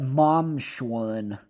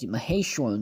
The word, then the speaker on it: Maheshwaran: See, they said it right this time. Yesterday said Mom Shwaran. Or something like that. It's like Maheshwaran, you dumbass.